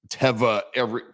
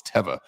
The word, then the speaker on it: Teva: there hiking, and they have like literally like Teva but I got corrected out there. Teva. I always said Teva. It's not. It's Teva.